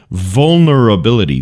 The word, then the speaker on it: vulnerability: the word for to challenge your pronunciation vulnerability vulnerability can you try that vulnerability vulnerability vulnerability it's almost like the L doesn't exist there vulnerability vulnerability the dictionary